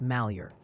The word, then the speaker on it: Malheur: Also, the good people of Oregon would like you to know that Malheur is pronounced Malheur.